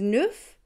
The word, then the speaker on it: neuf: wheat diet full on wheat diets 9 is neuf I got nothing for that one but I